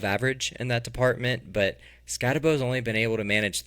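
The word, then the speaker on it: Skattebo: So Cam Scatabo. I've heard people say Scataboo. That's disgusting to me. I'm not doing it until he comes out and says that's how it's pronounced. So I'm saying Scatabo.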